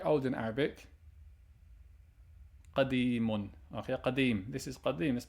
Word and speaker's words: قديم: Qadimun.